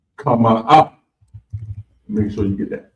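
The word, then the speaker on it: חמאה: Next up is butter, and it's pronounced kama up.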